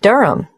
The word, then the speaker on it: Durham: At 1 Yoronga Street, Durham. How do you spell Durham? D-U-R-H-A-M. Of course, I should know that. But it's just one of those names that sounds quite different from the way you spell it.